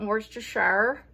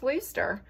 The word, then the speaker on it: Worcestershire: I'm pretty sure one of my viewers told me that's how that you're actually supposed to pronounce it, not Worcestershire, which is basically how I've said it my whole entire 41 years of life. I think it's Worcester. Am I right?